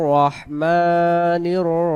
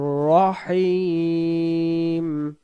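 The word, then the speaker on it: الرَّحِيم: আমি আশ্রয় গ্রহণ করছি এরপর আমরা বলি বিসমিল্লাহির রাহমানির রাহিম বিসমিল্লাহ লা এক আলিফ হির রহমান মা এক আলিফ মানির রাহিম আলহামদু অনেকেই আমরা বলি আলহামদু আলহামদু যদি আমরা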